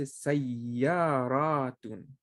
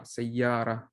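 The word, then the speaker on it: سيارة: You know, if you're stop, you don't have you just pronounce the ha, sayyara. But here, if you stop, you say sayyarat.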